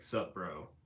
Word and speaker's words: Subaru: some idiot in a Subaru. I feel like Subaru is, if you say it right, it's like sup bro.